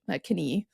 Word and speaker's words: Knie: in front of it, where you used to pronounce the K sound which was a C in Old English, knie. Yeah, and in German, again, it is Knie now.